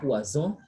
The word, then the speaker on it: poison: So we say poisson because double S, the S sound is retained, but now poison, it is single S between vowels, so the sound becomes what? Z.